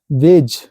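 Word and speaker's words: wedge: बाद जी होता है शब्द में डी के बाद जी होता है तो डी साइलेंट रहता है चलिए इसको कुछ सम एग्जांपल्स लेते हैं देखो वेज डी के बाद जी आया है डी उच्चारण नहीं हो रहा है डरेट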